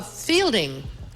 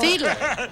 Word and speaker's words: Fiedler: Oh, Fielding. Fielding. Fielding. Fielding. I believe it's pronounced Fiedler. So, Fiedler.